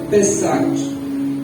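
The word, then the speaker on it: Pesach: A Páscoa é uma festa originalmente judaica e do hebreu, ela no original se pronuncia pessaque, que significa passagem.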